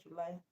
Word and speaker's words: July: So July the stress is on lie not June. All right. Despite July being a noun.